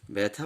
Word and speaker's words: ব্যথা: ব্যথা বানানটি একটু খেয়াল করে মনে রাখতে হবে যে ব্যথা বানান লিখতে আকার নেই, কিন্তু উচ্চারণে জফলা আকারের